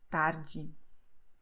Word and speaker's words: tarde: is the fact that the combinations the I, the E, well, the I always and the E at the end of the word, they have a sound that is like J in jeans. So you say Diego tarde.